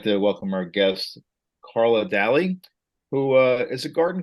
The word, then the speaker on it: Dalley: Did Bob say your name your last name wrong or have I been sailing daily incorrectly for years? It's it's actually Deli. Yes, it's English, not Irish.